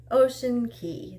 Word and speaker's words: Ocean Cay: go for was the Island Ocean Key that's how they pronounced it and so that's how I'm going to say it so it was